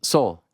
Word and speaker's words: Saul: mess with, and that's, everyone gets it wrong all the time, is the pronouncing of my name, Saul. Saul.